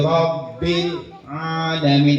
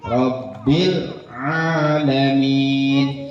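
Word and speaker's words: رب العالمين: Alhamdulillahi Rabbil Alamin, ada dua tuh pada lafaz alhamdu bil alamina ya, jangan dipantulkan ya huruf lamnya ya. Rabbil alamin 1, 2, 3. Rabbil Nah, alamin. itu jadi bersih, nggak kedengeran suara l-nya ya.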